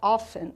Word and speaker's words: often: tenho often, lembrando que o often, pessoal, ele tem a pronúncia com esse T mudo, que a gente chama de silent letters em inglês. Acontece muito isso no inglês de ter uma letrinha que ela fica muda na hora da pronúncia. Então seria often, né?